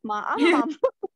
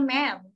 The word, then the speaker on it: ma'am: Ma'am. Kalau ini dibacanya ma'am.